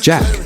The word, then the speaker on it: Jacques: In 2019 Travis released a collaborative student project titled Jackboys, a play on title to his real name Jacques or as he pronounces it Jack.